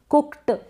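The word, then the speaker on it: cooked: आपको एहसास होगा कि हां ये ट का साउंड आ रहा है लेकिन आप दूसरे को ऐसे नहीं बता सके कुक्ड कुक्ड इस तरीके से गलत हो जाए कुक्ड इस तरीके से पढ़ेंगे ट का साउंड भी आ रहा है और वॉइसलेस भी है और आपको पता भी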